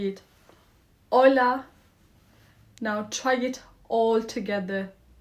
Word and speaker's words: hola: The H is silent. We don't say it like we do in English. Say it with me. Ola again. Ola. Smooth open vowels. O like open and a like apple.